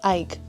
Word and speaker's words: Ike: I've been pronouncing it EK Quebec cuz I mean I'm not even Japanese. So when I see Ike E, I just think it's EK. It's Ike. like Mike and Knight.